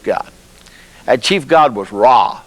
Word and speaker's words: Ra: a chief God was raw sometimes pronounced Ray the Sun God he